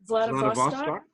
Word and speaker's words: Vladivostok: And so he ends up in, how do you pronounce it? Vladivostok.